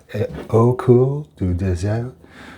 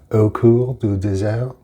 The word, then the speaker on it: Au Coeur du Désert: Au Coeur du Désert. Um uh the French pronounce their Rs like Hs. So, that's Coeur du Désert Désert.